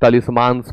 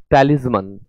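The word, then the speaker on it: talismans: तो तलिस्मांस न पढ़े, इट इज टैलिस्मन, टैलिस्मन। तो many people bye charms and टैलिस्मन्स because they think they will bring them luck.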